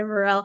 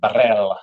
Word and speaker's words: barrel: Um, but do not say Burrell. I will say it to your face, Vidal. Um, I think it's silly, At least roll your R's, Emma. Barrel.